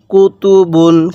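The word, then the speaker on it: كُتُبٌ: বা দুই পেশ বুন কুতুবুন কিভাবে শিখবো কুতুবুন এরকম ভাবে পড়বো স্মরণ রাখবেন এই তানভীনের উচ্চারণ বাংলায় দন্তান্য উচ্চারণ হবে অর্থাৎ শব্দের শেষে দন্তান্য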